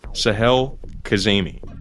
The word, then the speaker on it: Sahel Kazemi: dozen different ways but here in this DUI video she says Sahel Kazemi so that's how we decided to pronounce it on the podcast then